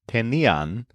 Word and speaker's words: tenían: First of all, the imperfect forms all stress the syllable ni. So, I had is tenía. He, she, it, or usted had is also tenía. You had is tenías. They had is tenían, and we had is teníamos.